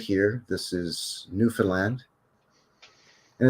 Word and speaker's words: Newfoundland: We pronounce it Newfoundland. Newfoundland.